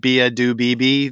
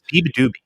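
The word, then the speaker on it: Beabadoobee: don't know exactly how to say this, but Bia Do Bibi, the girl in England. Biba Doobie.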